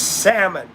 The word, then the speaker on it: salmon: Yes, it's salmon. The L is silent.